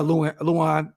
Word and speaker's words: Lewan: boys with Will Compton um and Taylor uh Luan is how you say his name um and